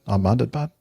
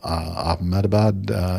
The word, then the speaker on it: Ahmedabad: Is that how you'd pronounce that? Ahmedabad?